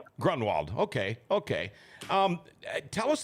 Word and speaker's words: Gronwold: How do you pronounce yours? Grunwald. Grunwald.